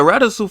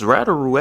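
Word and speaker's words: Radiru: And was like, I'm about to put the Ratasu family on the top of the ladder. Jinwoo completely mispronounces Essel's family's name as she's like, it's Rataru actually.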